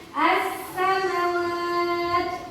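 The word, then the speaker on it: السماوات: Jadi alif lam syamsiyah itu ya lamnya hilang, tidak terbaca. Dia masuk ke dalam huruf tadi. Jadi bacanya as-samawat.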